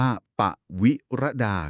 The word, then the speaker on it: ปวิรดา: ชื่อ นัก เขียน คือ ปวิรดา ที่ อ่าน ว่า ปวิรดา ครับ ผม และ